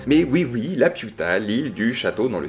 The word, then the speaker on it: Laputa: Dans son troisième grand voyage, Gulliver s'arrête à Laputa. Attention à bien la prononcer. Mais oui, Laputa, l'île du château dans le ciel de Miyazaki.